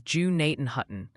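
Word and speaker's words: Gnadenhutten: The Ohio Pronunciation Academy called Gennaden Hutton is Jew Nathan Hutton.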